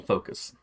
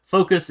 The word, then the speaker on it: Phokas: Phokas is Phokas. I was gonna jokingly say with a P, but PHO. KAS. KAS. It's probably pronounced more like Phokas or something, but yeah.